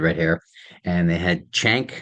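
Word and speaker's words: Cenk: hair and they had chank I think is how you pronounce it ceen K from The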